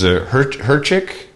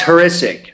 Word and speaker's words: Horisic: It was Herchik? It's Horisic.